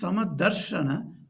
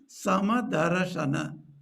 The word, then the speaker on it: समदर्शन: Samadarashana. That ra must be pronounced. Then only the meter can be kept.